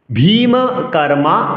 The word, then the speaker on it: ভীমকর্মা: ভীমকর্মা বৃকোদরঃ। ভী দীর্ঘস্বর। ভীমকর্মা 4, বৃকোদরঃ 8। চলুন উক্ত শ্লোকটি সুর দিয়ে পাঠ করার চেষ্টা করি। পাঞ্চজন্যম হৃষিকেশঃ দেবদত্তম ধনঞ্জয়ঃ পৌণ্ড্রম দদ্মো মহাশঙ্কম ভীমকর্মা বৃকোদরঃ।